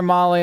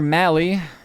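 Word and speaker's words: Mahle: Tyler Mali or rhymes with rally.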